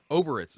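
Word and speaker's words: Obyrith: Is it Oribits? How do you say the other demon lord things? Oberith.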